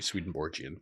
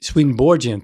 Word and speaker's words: Swedenborgian: swedenborgen church in 1999 it's usually a soft G swedenborgian swedenborgian thank you please yeah